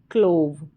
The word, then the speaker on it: clove: यहाँ पर जो लास्ट में वी के बगल में ई आ रहा है ये साइलेंट है, इसका उच्चारण नहीं होता तो ये पूरी स्पेलिंग बन गई क्लोव।